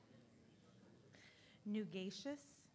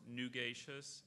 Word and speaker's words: nugacious: Nugacious, and that's the only pronunciation? There's nugacious and nugacious.